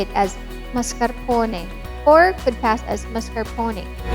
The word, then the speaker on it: mascarpone: it's usually pronounced as mascarpone or mascarpone but we want to stay loyal to the italian language and say it as mascarpone or could pass as